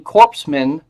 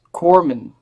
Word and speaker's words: corpsman: say you know what you mispronounced corman its corpsman are you sure you